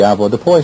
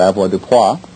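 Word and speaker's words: avoirdupois: everyone's familiar with the Ava Deo system AV Deo or Ava DEA however you choose to pronounce it comes from the French and it means to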